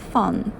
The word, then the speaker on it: phone: 또 하나 알아둘 것은 PH는 F랑 똑같이 발음한답니다. phone 발음 새는 소리를 하면 돼요. phone.